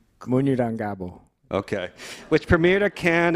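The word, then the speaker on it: Munyurangabo: I looked up the pronunciation. You're going to have to correct me, Isaac. Munurangabo? Munurangabo.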